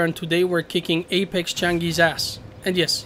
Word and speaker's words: Changui: today we're kicking Apex changi's ass and yes his name is actually apparently Changi that's how they say it in Korea I heard that so